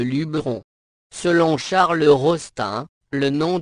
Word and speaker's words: Luberon: formes Luberon ou Lubéron l'orthographe et la prononciation Lubéron sont toutefois à éviter au profit de Luberon selon Charles rostin le